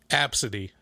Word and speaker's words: ABCDE: Bryce and his wife told me that's a real name that people name their kids. Pronounced Absidy.